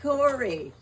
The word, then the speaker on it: Cora: The old folks pronounced it Corey.